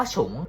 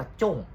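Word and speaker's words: 重: เขียน ใหม่ แต่ ว่า คำ ว่า ฉง ตัว เนี้ย ถ้า เผื่อ มัน เขียน ว่า ถ้า เอ้ ถ้า เผื่อ มัน อ่าน ว่า จ้ง มัน จะ แปล ว่า หนัก อ่า คือ เหมือน มัน เป็น คำ 2 คำ ที่ เขียน เหมือน กัน นะ ครับ แต่ ว่า ความ หมาย ไม่ เหมือน กัน ส่วน ตัว ผม ชอบ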